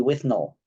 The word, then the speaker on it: Withnail: will be responding to with nail and I and is it with nail or with null take a pick because they pronounce it in the movie with null I always thought looking